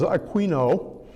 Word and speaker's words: Aquino: He was born around 1225 in Aquino, Italy. Now, this name is common in Spanish and is pronounced Aino there, but in Italy, the place is Aquino.